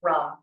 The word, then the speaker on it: ram: It's spelled R A M, but it's pronounced rum.